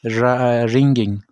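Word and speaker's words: wringing: When will the washer man बी रिंगिंग clothes. अब यहाँ पर जो डब्ल्यू है वो साइलेंट है।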